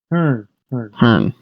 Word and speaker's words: Herne: I think the E is silent at the end. Hearn.